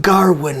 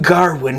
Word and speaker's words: Gawain: nowhere, is bring young Garwin here. He's got this really cool, almost like quasi-Welsh accent. But he's, bring young Garwin here.